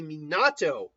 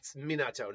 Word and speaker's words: Minato: So I could even see Minato, it's Minato, not Minato. I'm vaguely mispronouncing it.